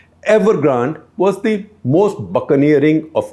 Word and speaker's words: Evergrande: And among those companies, this one, that is Evergrande, or Evergrande if you want to say so, Evergrande because it's spelled with an E in the end. Evergrande was the most buccaneering of all.